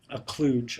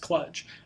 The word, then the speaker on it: kludge: There's something called a kluge, or often pronounced kludge. The funny thing is this is actually written more often than it's spoken, so there's not really much consensus regarding how it's supposed to be pronounced.